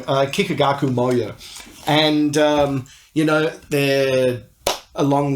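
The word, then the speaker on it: Kikagaku Moyo: I normally get their name wrong. Kikigaku Moyo.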